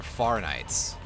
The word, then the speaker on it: Fahrenheit: say it that they're far Knights you know pronounce it with the the German pronunciation because I believe Fahrenheit